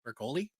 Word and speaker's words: Broccoli: brco the broli broccoli it's spelled broccoli I never know how to say it broli broli I think is the right is the right uh pronunciation I could be wrong but yes I remember